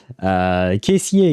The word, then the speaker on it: caissier: Kind of sounds like cashier, but without the R at the end. Caissier, yes, caissier would be cashier, but in French.